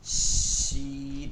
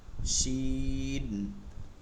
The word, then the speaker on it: শিন: জা scene scene scene শিন এটা একদম ভিন্ন ভিন্ন কিন্তু সিনের থেকে ভিন্ন উচ্চারণ হবে তাহলে মত উচ্চারণ উচ্চারণ হবে স উচ্চারণ বের হবে শিন শিন সদ সদ সদ